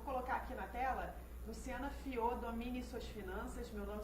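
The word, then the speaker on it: Fiaux: Vou colocar aqui na tela, Luciana Fiô, domine suas finanças. Meu nome se escreve F-I-A-U-X.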